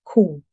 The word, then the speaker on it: coup: Another French word with a silent P. It's pronounced coup.